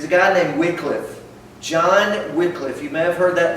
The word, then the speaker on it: Wycliffe: John Wycliffe. You may have heard that name pronounced Wycliffe.